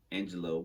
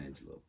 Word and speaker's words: Angelou: In 1961, Angelo performed in I have to keep saying Maya Angelou in my head to say it right. Maya Angelou performed in John Ganet's